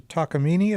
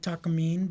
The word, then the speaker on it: Takamine: last guitar was a takini is that how we pronounce it I think so yeah takam that's how I've heard I I called it Takamine but everyone says takini well I'm noticing that